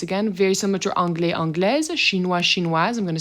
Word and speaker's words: anglaise: Anglais, anglais, anglaise, anglaise. So you can hear that the S is being pronounced as a Z.